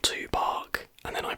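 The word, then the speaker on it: Tupac: at the fact that i was pronouncing it too back and not to park and then i pronounced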